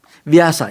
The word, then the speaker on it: Vyasa: Did you say that, correct my pronunciation, Vyasa? Vyasa, yeah.